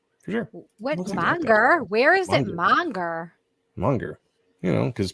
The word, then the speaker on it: manga: Sheldon manga is pronounced Monger for sure where is it Monger Monger you know because people pronounce a as they put an r on a sometimes you know not me